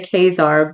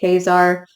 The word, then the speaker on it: Quasar: front I mean like I always want to say kesar but that is not right cuz kesar is in the Savage land with zabu but anyway quazar so if I mispronounce it quazar throughout talking about this issue just know I know that it's you know quazar um it just you